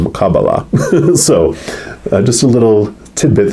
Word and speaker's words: Kabbalah: It's kind of based on the I always pronounced it Kabbalah, but when I was studying it a little bit toward a couple months ago, Kabbalists call it Kabbalah.